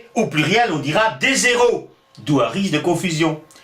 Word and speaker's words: héros: Mais qu'importe, puisqu'actuellement, on ne prononce plus le S à la fin des mots. On dit un héros au singulier, et on dit des héros au pluriel. On ne le prononce plus.